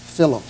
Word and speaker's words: Philo: Philo, that rhymes with pillow. Okay, but not Philo. But not Philo, no. But it's spelled the same way as Philo, P-H-I-L-O.